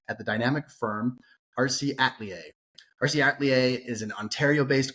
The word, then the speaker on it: Atelier: Atelier. Atelier.